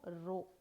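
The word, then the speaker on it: rho: ஓகேயா, இதை எப்படி நம்ம ப்ரொனவுன்ஸ் பண்ணணும், ரோ.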